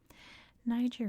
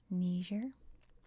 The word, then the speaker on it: Niger: I should probably point out that in some variations of English it's pronounced Niger, but primarily I think in British English too it's Niger, as in Nigeria.